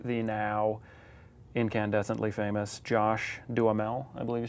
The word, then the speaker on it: Duhamel: So I got to wrestle with the now incandescently famous Josh Duhamel, I believe you say.